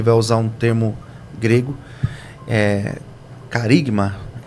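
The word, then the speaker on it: χάραγμα: João ele vai usar um termo grego, carigma, é assim que pronuncia, eu creio que é assim que pronuncia. Haragma, exato.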